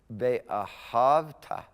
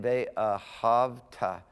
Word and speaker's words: ve'ahavta: Ve'ahavta. The root word there is ahav, to love. Say it again, ve'ahavta. The schwa is silent, remember that? Ve'ahavta.